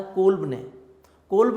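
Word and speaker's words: Kolbe: इसको कोलब भी पढ़ते हैं, कुछ डिफरेंट प्रोनाउंसिएशन में इसको कोलब भी पढ़ा जाता है, कोल्ब भी पढ़ते हैं, कोलब भी पढ़ते हैं इसको, जैसे आपको इजी लगे।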